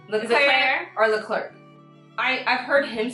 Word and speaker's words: Leclerc: No, guys, pronunciation. Leclerc or Leclerc.